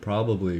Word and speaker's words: probably: is probably a good probably a good thing. I hate when I say probably. It's probably with three syllables, not two. Probably is lazy. Probably is better.